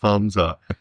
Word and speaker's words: Hamza: Hamza, there's no K. There's no K all the time. It's Hamza.